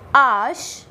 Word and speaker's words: H: The next letter is H, which is pronounced as ash in French, and the word is hibou, which means owl in English.